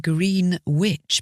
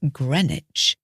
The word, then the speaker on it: Greenwich: not Greenwich in particular it looks like green witch but no we say Grenich and this is the